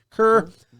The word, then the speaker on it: Kerr: Kerr.